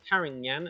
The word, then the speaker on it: Carignan: sugars really really easily is the great variety karangnyan karagnan as it's spelt carignan or karin yan as it's pronounced uh there's a spanish name for it